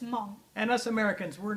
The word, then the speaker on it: Hmong: Hmong, a lot of people pronounce it Hmong, but it's not Hmong. The H is silent. It's just Hmong.